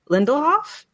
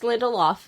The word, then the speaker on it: Lindelof: of breaking down Damon Lindelhoff's. Damon Lindelhoff's. Nope, just Lindelof. Lindelof? Oh, right. I'm adding extra syllables. Oh my god. No, you're just adding extra like words, consonants. It's Damon Lindelof.